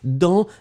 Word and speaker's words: dans: Ouais, remember, Humei, that dans, D-A-N-S. Don't forget the S, you don't pronounce it, still it should be there.